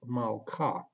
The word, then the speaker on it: malka: That is why Shewa is silent, and we read this word as malka.